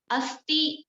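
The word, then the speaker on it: अस्थि: Then asti, A-S-T-H-I, asti, which called bone.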